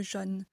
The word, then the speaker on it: jaune: les accents et bien normalement ici les personnes du Nord prononceraient avec un haut fermet le jaune mais moi je le prononce avec un o ouvert puisque je viens du sud donc je dirais du jaune 4 une chaussure alors